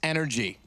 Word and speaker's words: NRG: to nothing for NRG yeah which is actually pronounced energy is it right the drink yes it is